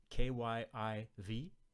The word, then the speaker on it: Kyiv: The first one, K-Y-I-V, which is pronounced, I think, like Kyiv, that's a transliteration of the Ukrainian name for the capital of the Ukraine.